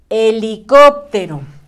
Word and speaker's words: helicóptero: vas conmigo perfecto el siguiente dibujito es un helicóptero a ver también empieza con la muda con